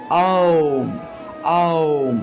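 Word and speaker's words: ওঁ: তাহলে আমরা উচ্চারণ করব আওম আওম।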